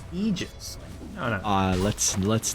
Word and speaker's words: Aegis: how Aegis is pronounced again oh it's actually pronounced egis uh let's let's not let's we could do